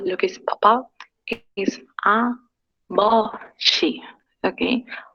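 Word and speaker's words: 아버지: Omoni, aboshi, halmoni y haraboshi. Papá, ¿cómo era? Aboshi. Se pronuncia más como una P o P. Como una B, abo. Aboshi.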